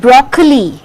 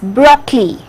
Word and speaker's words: broccoli: vegetables it is vegetables chocolate it is not broccoli it is broccoli two-syllable sound so this is what i was